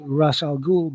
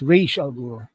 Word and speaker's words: Ra's al Ghul: is supposed to be Ra's al Ghul, but it turns out to be Ubu, uh, Raz's enforcer right hand man.